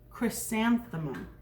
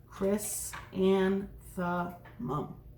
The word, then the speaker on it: Chrysanthemum: chrysanthemum loved her name it is a very tricky name to say can you try saying it right now chrysanthemum chris and the mum that's a mouthful but